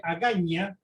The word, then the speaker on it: Agaña: La capital de Guam es Agaña, con ñ. En inglés se escribe con N, pero se pronuncia Agaña porque viene justamente de cuando era colonia española.